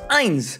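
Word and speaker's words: eins: spelled like this as the number one in German is pronounced Ein mines over the years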